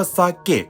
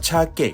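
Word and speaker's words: 鮭: เกะ กับ ชาเกะ ครับ คำ ที่ ถูก ต้อง จริง ๆ เป็น คำ ว่า ซา เกะ ครับ แต่ เช้า เอ โดะ และ ชาว คันโต กับ ฟัง ติด ทะเล ที่ อยู่ สิ ญี่ปุ่น ตะวัน ออก จะ ออก เสียง ชิซึเนะ ไม่ ชัด เลย เป็น ชาเกะ ครับ มี คน อธิบาย เอา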